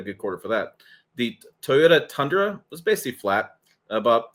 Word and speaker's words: Toyota: Looking at the midsize truck market, the Toyota Tacoma, 3 syllables, Tim, 3 syllables, Toyota Tacoma, up 184.9%.